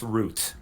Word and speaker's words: route: afraid not mr right it's pronounced root but i don't i mean i know americans sometimes say route and stuff is why and since